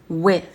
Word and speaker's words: with: Avec, with. Le TH là, on met la langue entre les dents. Fa. Ok? Ça donne ça.